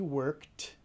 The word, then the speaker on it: worked: He worked in Barcelona last year. ¿Qué sonido escuchas? Worked. La T.